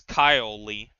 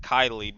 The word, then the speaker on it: Kylie: I assume it's Kyle Lee, not Kylie, but it's spelled Kylie.